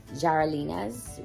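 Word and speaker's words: Yarelina's: it properly but um having that her background the y has a j sound so it's jarelina's reborn nursery and her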